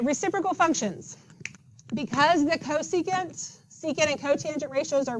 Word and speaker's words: cosecant: This is not ksik. It is cosecant.